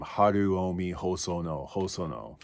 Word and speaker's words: Haruomi Hosono: I hear a lot of people kind of mispronounce his name, Haruomi Hosono.